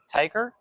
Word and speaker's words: Tyker: So, your name is pronounced Tiger. Yeah, man. You got it. Tiger. I thought honestly I thought it was Tyler this whole time and um I didn't mention your name today.